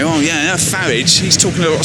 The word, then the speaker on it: Farage: rise of Nigel bloody farage rhymes with garage and the fascists and